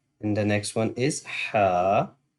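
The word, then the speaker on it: حاء: And the next one is Ha. That's called throatal letter, and we will pronounce from the middle throat. So Ha, Ha, Ha.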